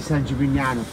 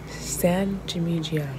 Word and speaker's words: San Gimignano: San Gimignano. No, the other G is silent. San Gimignano. No. San Gimignano.